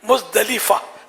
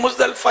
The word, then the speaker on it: مزدلفہ: اردو میں مزدلفہ بولتے ہیں، ویسے عربی اس کی تلفظ ہے مزدلفہ، لام کے نیچے زیر ہے، لیکن مزدلفہ چل جائے گا، اردو میں بولتے ہیں.